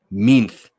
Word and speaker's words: Minth: Okay, I'm glad I'm saying it right. Minth. Okay, that makes more sense because Minth sounds better than me sounding like I have a lisp and I'm trying to say mint.